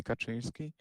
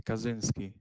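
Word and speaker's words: Kaczynski: Ted or maybe cuz his his surname is Polish. Polish people say Kachinski and Americans say Kazinski or whatever.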